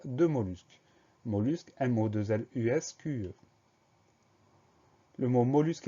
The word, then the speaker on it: mollusque: Première syllabe, mot, M-O, pas de problème. Deuxième syllabe, lus. Alors attention, dans mollusque, il y a deux L. On pense bien à mettre ces deux L. Donc, M-O, deux L-U-S, mollusque.